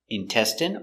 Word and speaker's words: intestine: Remember, medicine, margarine, intestine or intestines, more than one, genuine, famine. Remember, it's countable, a famine, and jasmine. So all of these words are pronounced with the in sound for the ine.